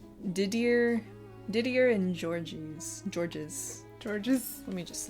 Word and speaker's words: Didier: Dear and gorgeous. No, but close. Didier and Georges.